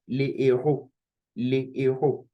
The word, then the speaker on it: les héros: important to note that we cannot even say les héros, we say les héros. Why? Because héros is hash aspirate, okay? It is hard. So it is pronounced just like we did for the singular, le héros. And the same thing for the plural, les héros, okay? So it is forbidden to say les héros, very forbidden.